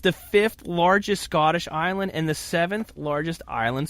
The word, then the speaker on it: Islay: ila we're heading to isla pronounced it looks like Islay but it is pronounced isla they make a tremendous